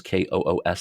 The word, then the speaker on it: Koos: up my my name last name is Kos is in Sam um it's pronounced Kosh but it looks like cous um second place